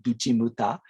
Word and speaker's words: Guchimuta: which is this one is Yoshimoto which is pronounced like "Guchimuta" in Yonaguni and we can see that